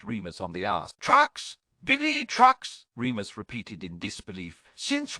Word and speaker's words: Bellatrix: I'm pronouncing it wrong, Remus asked weakly, but I've always pronounced it Bellatrix.